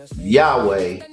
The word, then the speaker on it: Yahweh: These four letters were pronounced Yahweh by the Caucasian and European people.